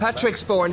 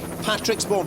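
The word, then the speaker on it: Patrixbourne: Now, there is a village called Patrick, spelt with an X. Well, I'm just looking at Patricksbourne, here we are, 101.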